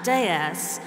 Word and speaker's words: DS: And he described it as a goddess because the initials D and S, pronounced in French a déesse, which is the French word for goddess.